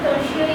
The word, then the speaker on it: tertiary: सर उसको टर्शियरी भी pronounce कर सकते हैं। यस यस यस, बट लिखना वही हम लोग बोले ताकि लिखने में सुविधा होगा। ऐसा हम लोग टर्शियरी भी प्रोनाउंस करते हैं, बट हम लोग टर्टियरी बोलते हैं ताकि लिखने में सुविधा हो।